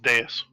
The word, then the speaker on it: dais: Yeah, it's pronounced dais.